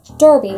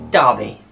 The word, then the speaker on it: Derby: there babe i don't know oh seems easy derby an old lady's name shout out to all derbies out there i can't think of ways to pronounce it babe oh no no it is dobby oh i was close you work i think